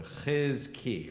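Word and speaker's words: חזקי: You have to go into your throat. It's ch. So chizki.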